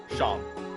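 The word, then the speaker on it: Seam: better to do than name is sham pronounced sham and this is my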